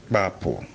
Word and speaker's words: bapo: The scissors we use in cutting cloths or whatever is pronounced bapo. Then the next word that has the same spelling but with different stress mark on the vowels is bapo, narrow. This road is narrow. This road is bapo miatilimi and bapo me.